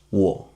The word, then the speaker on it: 我: The third tone is a low pitch tone, and you will feel your throat working on that. Da, da, da. We try this word. 我, 我, 我 means I.